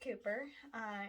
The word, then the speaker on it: Cowper: the great favorites it was written by william cooper it is spelled calper which is pronounced cooper in 1772 now cooper had struggled pretty much